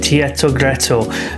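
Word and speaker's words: Teatro Greco: main Center Point now I think you pronounce it Tito gretto uh so I would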